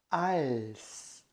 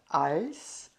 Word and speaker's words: als: eu trabalho como professor de alemão tá então als deut L tá então esse als se escreve com a l s n Então tá